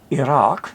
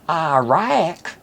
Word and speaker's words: Iraq: it's wrong just like one will hear one person say Iraq which is correct and another person will say iaic which is unfortunately many proudly ignorant people in the US say there's also the mispronunciation